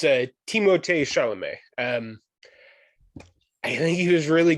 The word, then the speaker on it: Timothée Chalamet: it turns out I was saying his first name wrong as well. It's Timothée Chalamet.